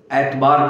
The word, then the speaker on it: एतबार: इतबार, वो शब्द एतबार कहा जाता है, जो उर्दू भाषा का शब्द है एतबार। उसी को उच्चारण भेद में अथवा क्षेत्रगत उच्चारण भेद से एतबार इतबार हुआ।